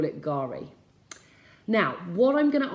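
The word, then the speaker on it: K'gari: It's spelled Kugari, but you say Gari.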